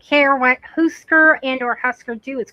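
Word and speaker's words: Hüsker Dü: Okay, so now we know he doesn't care what husker and or husker do is called. Yes, that U with the two dots over it is pronounced ooer.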